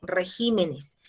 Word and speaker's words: regímenes: Señorita, en este caso, mire, el singular es carácter y el plural es caracteres. La sílaba tónica se mueve, ¿sí? Hay algunos casos como este. Régimen es el singular y la sílaba tónica está en re. Y cuando pasa al plural sería regímenes. Entonces, ¿puede haber ese traslado